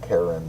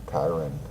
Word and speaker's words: Chiron: the mentor of Achilles now his pronunciation is different depending on where you look at a spell Chir and so Karen or Chiron and he was said